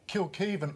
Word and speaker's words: Kilkivan: and by the way kill keev almost rhymes with Scott Beav if you're looking for